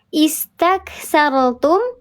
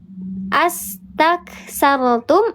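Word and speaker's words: استكثرتم: Coba kalau kita mulai dari sini cara bacanya istaksartum atau aksar ak astaksartum atau ustaksartum. Is betul is. Kenapa disebut is? Kenapa dibacanya is bukan as? Bukan us. Kenapa dibaca istak bukan ustaq?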